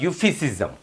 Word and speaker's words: euphemism: पढ़ने जा रहे हैं यू फिस जम ठीक है यू फिस जम ई साइलेंट है इस थोड़ा सा नी होएगा ये इसकी प्रोनंसिएशन शुरू हो रही है वो यू से हो रही यू फसम खैर प्रोनंसिएशन